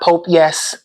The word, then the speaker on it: Popeyes: The girl was trying to say Popeyes and she said Pope Yes. I died when I seen that that video. Because wherever she's from, they don't have a Popeyes. So she must ain't know how to say it. She was like, I'm out here in front of Pope Yes.